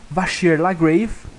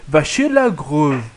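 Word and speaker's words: Vachier-Lagrave: O Maxim Vachier Lagrave. Isso daí é uma pronúncia americana para o nome francês. Então deve ser Maxim Vachier Lagrave. Alguma coisa nesse sentido.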